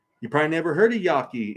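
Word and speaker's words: Yaqui: the United States of America was created um Yaki you probably never heard of Yaki it's spelled y-a-q-u-i looked this stuff up there were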